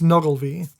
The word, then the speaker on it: Nuckelavee: But it's spelled much different. I know, Yeah. but it's Nuckelavee, which he translated as devil of the sea, Okay.